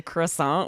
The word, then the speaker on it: croissant: If I'm in a French like you try to play, but in the States we say croissant. We really Americanize it.